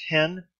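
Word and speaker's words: ἕν: market has no sound thus epsilon new with a rough reading Marcus pronounced hen but with a smooth breathing mark it's pronounced in so there's no sound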